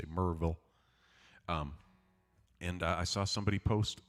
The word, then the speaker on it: Maryville: It's spelled Maryville, but if you're down here, you say it like you've got some, like you ate a couple of Bit Honeys and somebody asked you the name of the town. You say Maryville.